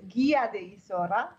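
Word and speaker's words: Guía de Isora: Well, it's Gia di Isora, but it's only pronounced like that because after the G comes the U. Okay. Okay, so the U-I makes it pronounced Gi.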